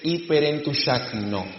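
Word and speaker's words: ὑπερεντυγχάνει: La palabra intercesor que Pablo utilizó en Romanos 8:26 y 27, en el griego se dice hiperentushakno.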